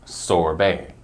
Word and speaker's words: sorbet: give it a try are you ready it's sorbet sorbet sorbet this one is also a kind